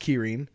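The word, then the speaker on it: 麒麟: with this is the kyin now um it's pronounced Kirin but you might recognize it from the uh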